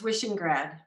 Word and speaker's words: Wishingrad: It's Wishingrad, I love that. just like it's written.